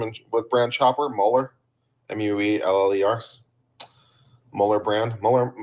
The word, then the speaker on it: Müller: M U L L E R. Mhler brand. Muller. Mueller brand makes the best stuff. Not sure whether they pronounce it Müller or Mueller, but either way.